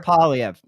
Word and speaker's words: Poilievre: How do you pronounce Pierre's name? Poilievre? Pierre Poilievre.